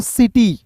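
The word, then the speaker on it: city: टी वाई है तो इसे क्या पढ़ेंगे दोस्तों सिटी ठीक है सी आई टी वाई को सिटी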